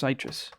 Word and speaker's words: Sytrus: or in another oh you thought sytrus is pronounced citrus it's pronounced sytrus funny because even the if you load up